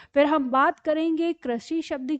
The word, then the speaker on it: कृषि: तो इसका मतलब ये हमारा जो री है, ये ही इसकी मात्रा है, और क्योंकि इसका उच्चारण है री, तो यहाँ पर ये शब्द है हमारा कृषि।